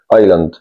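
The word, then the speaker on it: island: يدعى كنز كنز ايد خد بالك ان الاس هنا عندي ما بتنطق ايان معنا جزيره معناها معا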